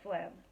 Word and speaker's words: phlegm: about an English class like the s in Island or the G in phlegm he thought he thought